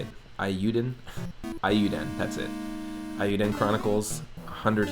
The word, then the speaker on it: Eiyuden: Dreamer says, the wife and I backed Eoiden, I don't know how to say it, Eiyuden, that's it.